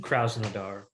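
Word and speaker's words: Krasnodar: pronounced their name but i believe it's krasnodor from last season kraussnadar there you go yeah see sometimes you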